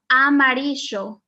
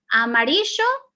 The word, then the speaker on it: amarillo: give you is um the color amarisho a maricho you will hear that in argentina in uruguay okay they they use this sound as sho a maricho amarisho which